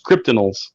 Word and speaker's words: Cryptidnals: cryptid kryptonials kryptonites yes it's supposed to be a mashup of cryptid and criminals so it's kryptonials cryptanals nice very cool